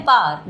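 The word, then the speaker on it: power: हम यूज़ कर रहे हैं पार। द पार। अब इसको हम पावर नहीं बोलते हैं। पार बोलते हैं। पार। डब्ल्यू थोड़ा सा ही हल्का सा ही बोला जाता है या साइलेंट ही लगा लो।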